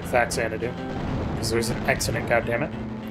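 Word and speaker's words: Faxanadu: that i loved was fact santa do or fazanadou depending on who you ask i always pronounced it faxxanadu because there's an accident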